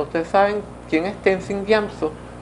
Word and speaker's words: Gyatso: ¿Ustedes saben quién es Tenzin Gyamso? Se escribe Gyatso. Sí, pero se pronuncia Gyamso, ¿no?